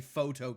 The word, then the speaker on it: pho: It's not like you can say photo go. That doesn't work either. Nor can you say fu to goo. Because all of this is a problem. I think pho has to still be pronounced differently from both to and go, which is correct because it's pho.